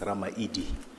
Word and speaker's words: Ramaili: So we don't have D as a grammar in my language, so it's L. So when you write it's Ramaili, but when you pronounce it, it's Ramaidi.